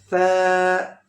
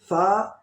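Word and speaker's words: فاء: Next letter wo also heavy sound letter, fat sound. Wo is pronounced by full mouth.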